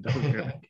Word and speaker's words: Dalgona: I think that's how it's pronounced, Dalgona.